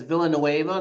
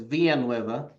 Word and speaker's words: Villanueva: Well, English version is Villanueva. The Spanish version is Villanueva.